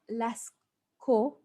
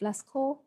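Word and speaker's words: Lascaux: I pronounced this correctly the cave paintings of last KO I had to check the pronunciation of Lesco it's a city in France were made in the upper Old Stone Age the cave paintings of Lasco were made in the upper old stone age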